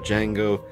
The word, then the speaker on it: Django: And a nice little coffee mug or tea mug for Django. The D is silent.